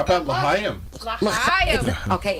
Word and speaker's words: L'Chaim: L'chaim.